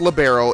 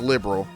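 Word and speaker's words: Liberl: So, I did find out it's not pronounced libero. It is pronounced liberal.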